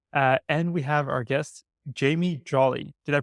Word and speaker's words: Jamie Jolly: and we have our guest, Jamie Jolly. Did I pronounce it all right?